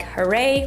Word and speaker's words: HOROW: So for Christmas this year, I decided to surprise him with the T38P smart toilet from Hero, pronounced like Huray, which feels fitting.